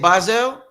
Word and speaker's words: Bizzel: That's how you say it, Bizzel. Yeah. Okay. In my mind, I was saying Bizzle. Bizzel. Yeah, it's Bizzel.